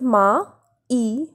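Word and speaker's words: maïs: for example the word mice mice which means con here we are pronouncing the vowel a and I separately that is ma e sir mice the next example is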